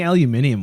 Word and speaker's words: aluminium: You guys are So- saying aluminium weird. Aluminium, yes. I'm sorry. I say it in the American slang Gross. instead of the formal British English. Yeah, it's a British pronunciation, isn't it?